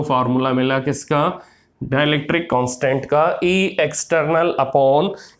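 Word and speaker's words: χ: Greek letter बेटा, इसको हम काई बोलते हैं। ची बोलते हैं, इसकी प्रोनाउंसिएशन ची है, काई बोलते हैं इसको, ग्रीक लेटर है।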